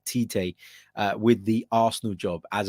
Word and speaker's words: Tite: and i know i'm not saying it right titay with the arsenal job as a replacement for